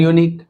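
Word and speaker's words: unique: यूनिक यूनिक फिर से Y sound आ रहा है। राइट? यानी कंसोनेंट साउंड।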